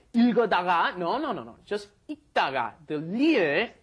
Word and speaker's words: 읽다가: Just 읽다가. The li을 발음 is not pronounced. There's no L sound. You just say 읽다가, as in when you just pronounce the basic form.